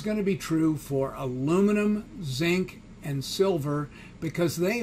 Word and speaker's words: aluminium: have to say so this would just be aluminum or as the british say aluminium okay so this would